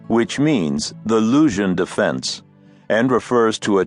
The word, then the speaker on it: Luzhin: Luzhina, which means the Luzhin Defense, and refers to a chess defense supposedly invented by my creature, Grandmaster Luzhin. The name rhymes with illusion if pronounced thickly enough to deepen the U into oo.